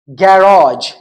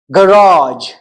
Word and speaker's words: garage: So third one is, in British English, it is like garage, garage, or garage, garage. In American English, it is garage, garage.